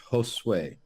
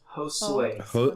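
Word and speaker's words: Josué: It's Joshua in Spanish, Josue. Josue. Like hose, like a hose in a way. Hose in a way. Josue.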